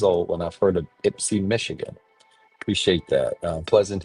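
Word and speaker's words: Ypsi: Ipsy is the right pronunciation. Okay. Ipsy. Interesting. Um I was today years old when I've heard of Ipsy, Michigan.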